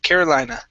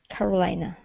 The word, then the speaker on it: Carolina: Make sure to pronounce this A at the end. Carolina. Carolina.